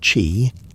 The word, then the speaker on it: qi: Qi, pronounced chi, was the vital force, the invisible stream that flowed through every living being, every tree, every breath of wind.